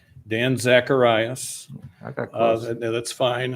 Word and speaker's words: Zacharias: Dan Zacharias, I apologize for the mispronunciation, to be followed by Robert Wrigby. Thank you, Mr. President, members of the board. It's Dan Zacharias.